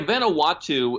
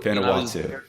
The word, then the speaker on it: Vanuatu: You mentioned one earlier, and I forget how to pronounce it. Vanuatu or something? Yeah, Vanuatu. Vanuatu.